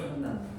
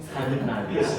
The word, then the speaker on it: 산란: 산란이 뭐냐면 산난. 알란. 발음 참 산란. 산란이라고. 산난. 제발.